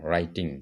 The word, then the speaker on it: writing: जों सैलै माने ओके इनके आरो W नि pronouncing ya, RITING, writing, direct.